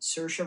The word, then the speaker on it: Saoirse: Saoirse Ronan is pronounced Saoirse Ronan, like Saoirse.